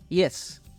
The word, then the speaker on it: yes: y es la palabra yes sí Yes Recuerda que la I griega suena como I latina suave Yes Y por último